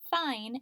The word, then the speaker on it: fine: the long vowel sound you're right we need that silent e because that I and E is working together to make the long I sound fine is spelled I n